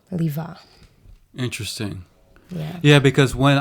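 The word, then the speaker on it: Lieve: reason why it's pronounced Leva okay tell tell me the history of this so my name is Dutch cuz I'm half Belgian and in Dutch the E is pronounced as an A so even though my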